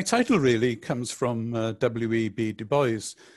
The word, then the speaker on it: Du Bois: Du Bois. That's how Americans pronounce it, and probably how he pronounced it, even though some of us might think that's an odd way to do it.